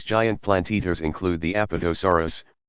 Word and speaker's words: Apatosaurus: plant eaters include the Apatosaurus pronounced up at esa WR us used to be called